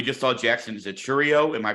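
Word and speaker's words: Chourio: there um we just saw Jackson is a Cheerio am I pronouncing that correctly yeah yeah now is the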